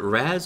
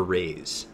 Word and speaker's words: Raze: Speaking of Shadow Fiend, how do you pronounce, is it Raz or Raze? It's Raze, Shadow Raze, yeah. I always say Raz. Like razzleberries. Uh-oh.